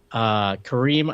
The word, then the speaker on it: Karim: Kareem, I think is actually how it's pronounced. I keep mispronouncing it.